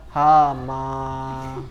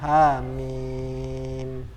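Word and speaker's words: حم: Atau hamim dibaca hama, salah. Bacanya hamim.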